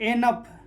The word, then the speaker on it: enough: जैसे ENOUGH क्या हो जाएगा, एनफ, ठीक है, डबल हो जाएगा।